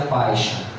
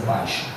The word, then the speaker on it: Pison: Que aparece na nossa Bíblia escrita como Pison, se pronuncia Paixão. Paixão quer dizer Pison em português, tá? A pronúncia do rio Pison em inglês é Paixão.